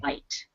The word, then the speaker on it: white: about this word here if there is no e on the end then it would be bit but because there is a silent E it changes the I to the long sound I so it's white okay trousers does anybody